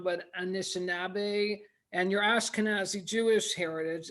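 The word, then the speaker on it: Anishinaabe: i don't want to pronounce it wrong but anishinabe and your ashkenazi jewish heritage and flint influenced you in filmmaking and the projects you pursue well um uh and it is anishnabe that's good it's ojibwe um up here too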